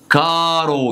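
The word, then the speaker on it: caro: النطق فهقول لك ايه حرف التشي لو جا بعد منه الاي او الا يتنطق شي او تشي لو ج منه اي حرف تاني يتنطق ايه يتنطق كي زي كلمه كارو كايرو اميكو اميكا بالشكل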